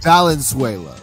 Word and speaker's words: Valenzuela: Valenzuela. Valenzuela. Okay, Richie Valens, like Valenzuela.